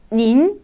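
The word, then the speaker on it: 您: 니, 그 다음 닌. 그래서 니라고 할 때는 삼성이었고요. 닌이라고 할 때는 이성으로 발음합니다.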